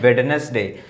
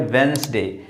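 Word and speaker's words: Wednesday: ये इसकी प्रोनाउंसिएशन हमेशा हमेशा अक्सर लोग गलत पढ़ते हैं। इसको लोग बोलते हैं वेडनेसडे। नहीं ये वेडनेसडे नहीं है। ये है वेडनेसडे।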